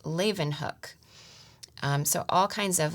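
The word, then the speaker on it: Leeuwenhoek: so there's a note that says this is pronounced Leen hook um so all kinds of little helps like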